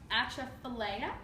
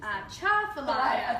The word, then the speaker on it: Atchafalaya: The Atchafalaya? You're really close. Atchafalaya? Change the accent on the first two Atchafalaya.